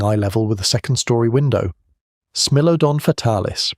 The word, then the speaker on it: Smilodon: Smilodon fatalis, pronounced Smilodon, ran 600 to 900 lb, heavier and far